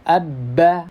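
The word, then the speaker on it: ب: Contohnya nih, kalau kita mau mengetahui makhraj atau tempat keluar dari huruf ba, kita tambahkan tasydidnya, tambahkan hamzah di depannya. Jadi cara membacanya abba, abba, abba. Kalau kita perhatikan, kita rasakan, boleh dicontohkan juga. Nah, huruf ba itu ternyata keluarnya dari mana? Dari bibir. Asalnya dari bibir.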